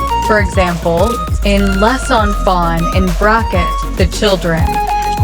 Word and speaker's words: les enfants: For example, in les enfants in bracket, the children, the final S in les is pronounced before a vowel.